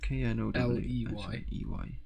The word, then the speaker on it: Knowsley: It's spelt Knowlesy, as in no slay. No slay, as in S-L-A-Y. Sorry, Knows. K-N-O-W-S-L-E-Y.